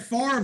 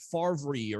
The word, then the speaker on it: Favre: Remember, Brett Favre was a draft pick of the Atlanta Falcons originally.